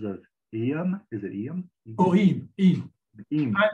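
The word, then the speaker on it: Eyam: Eam. It rhymes with gleam. Eam.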